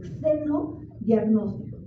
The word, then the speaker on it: xenodiagnóstico: a explicar es el seno diagnóstico seno diagnóstico se escribe con x al principio xenodiagnóstico xenodiagnóstico también se utiliza